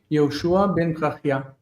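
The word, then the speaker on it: Yehoshua ben Perachiah: How do you pronounce it? Yehoshua ben Parachia.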